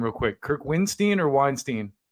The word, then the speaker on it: Windstein: say your name real quick Kirk winstein or Weinstein winstein winstein okay I want to get that clarified